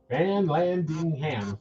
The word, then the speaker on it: Van Landingham: But in shows past, Carl, of course, you can see in the feed, his last name is Van Landingham. Van Landingham, 4 syllables, and it's got how many letters?